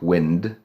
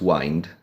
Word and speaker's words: wind: Once again, it looks like wind, or like something else, but actually it's wind, which is kręcić.